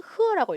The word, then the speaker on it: 贺: 얘는 흐어라고 읽어요.